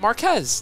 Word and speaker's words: Marquis: Have you heard of Jason Marquis? Is that how you say his name? Oh, God. How would you say it? Marquez.